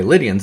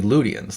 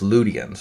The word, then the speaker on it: Lydians: It's actually Ludians. Like the word the if if there's a Y in the middle of a word, it's pronounced U, not E. Okay. So Lydians is not Lydians. It's Ludians.